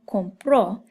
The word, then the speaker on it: compró: It's very important that you have that accent because if you don't and you just say compró, that could mean I buy in the present tense.